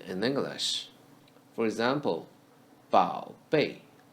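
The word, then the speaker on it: 宝贝: For example, 宝贝. 宝 is read as the first syllable of the word 宝 in the third tone.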